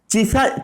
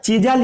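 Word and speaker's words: chisel: चिसेल shape पढ़िए या चिजल पढ़िए, चिसल, चिजल ही इसे ओरिजिनली पढ़ा जाता है। चिसल रॉन्ग प्रोनाउंसिएशन है।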